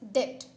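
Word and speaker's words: debt: This is डेट. बी is silent here.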